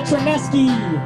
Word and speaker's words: Chernesky: Like a Chernesky, that E at the end is what rhymes with the song.